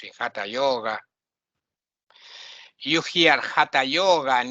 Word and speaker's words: Hatha: You hear Hatha Yoga, and it's not Hatha Yoga, it's Hatha Yoga, ta, with the tongue curling up a little bit like this. Hatha Yoga.